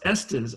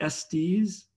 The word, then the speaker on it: Estes: you in Haiti that's really good and it's pronounced Estes I think I've been saying s T's bestest when I before I knew no I